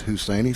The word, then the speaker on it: Husseini: That'll bring up number 6, Ashlyn Husseini is how I'm pronouncing it. I may have it wrong. PA man Jonathan Bragg said it's Husseini, so I must not be too far off.